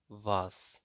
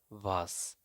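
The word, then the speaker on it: was: তো হোয়াটকে জার্মানিতে বলে থাকে ভাস। তো আপনারা হয়তো অনেকে জানেন না যে এখানে ডাব্লিউকে এখানে ভি উচ্চারণ করা হয়। ডাব্লিউকে ভি উচ্চারণ করা হয়, তার মানে এটা হবে ভাস।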